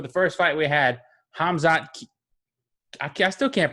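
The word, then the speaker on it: Khamzat: first fight we had hamzad i still can't pronounce his name i know the k silent like khabib so it's hamza kamayev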